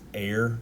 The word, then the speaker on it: Ayre: of Hudson I believe his last name is pronounced air it's a-y-r-e um Hudson this is